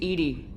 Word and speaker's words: EDI: Why are you named EDI? ED is the phonetic pronunciation of EDI.